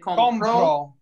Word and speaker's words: compró: Compró is I buy and compró. Yeah, the stress on the first O is I buy, but the stress on the second O, compró, makes it past tense.